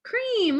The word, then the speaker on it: cream: Cream, look, there's 2. Circle, ice, cream, E-A. A is silent, you hear the E say its name.